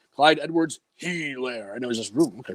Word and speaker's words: Edwards-Helaire: He was like, Clyde Edwards-Helaire.